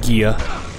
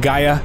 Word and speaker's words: Gaia: betrayed you all right gear ah I mean Gaia sorry sorry I pronounced it wrong oh you're disgusting ah